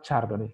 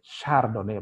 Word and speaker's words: Chardonnay: Satu Chardonnay yang paling terkenal, bukan Chardonnay, Chardonnay bacanya, ya.